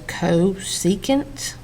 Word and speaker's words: cosecant: new trig identities now this CSC that is pronounced as cosecant okay it's just an abbreviation CSC is for cosecant well cosecant is equal